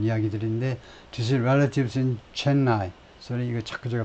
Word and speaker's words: Chennai: 그래서 이거 자꾸 제가 발음을 엉터리로 하는데, 이게 그래서 Chennai, 영어식 발음으로는 뒤쪽 실러브로, 뒤쪽 음절에 액센트가 있네요. Chennai가 아니고 Chennai. 인도식 발음은 Chennai일지 몰라도 영어식 발음은 원래 Chennai, 뒤쪽에 액센트가 있네요.